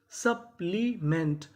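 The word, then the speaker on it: supplement: सा, पी हमारा 2 बार है, पढ़ेंगे कितनी बार? 1 बार। और यहाँ पे जो हमारा ई है वो ई की मात्रा का काम करेगा। तो मीनिंग क्या बनी? सप्ली, MENT, यहाँ पे ई ए का काम करेगी। तो आपको पता होना चाहिए। सप्लीमेंट, सप्लीमेंट।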